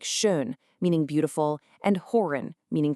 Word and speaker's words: schön: Make your lips into a tight little circle like you're saying Ü, but try to push the E sound out. That's the Ü.